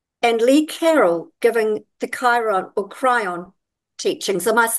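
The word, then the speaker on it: Kryon: Lee Carrol giving the Chiron or cryon teachings of I that correctly cryon I think it's cryon yeah I think that's how it's pronounced muddled up between cryon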